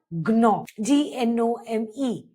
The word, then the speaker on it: gnome: Whenever the letter G is followed by an N, the G is silent.